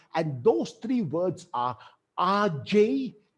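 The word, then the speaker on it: age: an exceptional life and those three words are rj quote this is how it is spelled a g e but pronounced rj q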